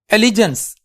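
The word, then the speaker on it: allegiance: एलिजेंस, तो the correct word is pronunciation is एलिजेंस।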